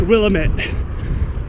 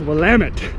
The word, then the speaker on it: Willamette: near each other it's the willamette it's not pronounced willamette damn you it is pronounced willamette damn it all right crossfit bookstore shaolin kempo